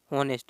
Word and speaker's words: honest: अगर हम देखें बी वाले में हॉनेस्ट, इसमें भी क्या दिया हुआ बताइए, एच इसमें साइलेंट है।